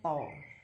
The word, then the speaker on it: tau: Bacanya tau.